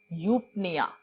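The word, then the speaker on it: eupnea: देखो, अगर मैं कहती हूं यूपनिया, पनिया, पी साइलेंट इसमें जाएगा, पनिया में इसका मतलब होता है ब्रीदिंग और यू का मतलब होता है ट्रू या नॉर्मल ब्रीदिंग.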